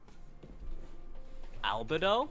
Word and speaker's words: Albedo: i noticed that uh any native english speaker will never pronounce the name as albedo albedo albedo that is a um a way you can pronounce it if you're if you speak a foreign language um one that does one that doesn't have the same stress rule system as english yeah because that's not